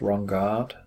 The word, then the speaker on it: Ronnegard: got an ornamental pipe from Jonas wrong guard rather thought so he pronounced his name and it is just